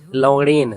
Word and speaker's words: लवणेन: देखो गुल्लू, होता क्या है, लवणेन, लवणेन ण के ऊपर एक ही मात्रा होती है और न होता है, न में आकार नहीं होता, लवणेन भुज्यम नहीं होता है।